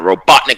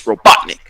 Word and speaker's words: Robotnik: Because a lot of people can't pronounce Robotnik. I know. Even though it's robot and then Nick, but it was not until 1999 fucking cooler name.